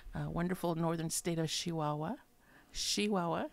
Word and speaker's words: Chihuahua: Chihuahua, a true person from Chihuahua pronounces it with an SH, not a CH.